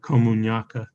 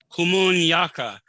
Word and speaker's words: Komunyakaa: Komunyakaa. Komunyakaa. Yes. All right. Apologize for that. I'm not good at pronouncing, but we'll do our best.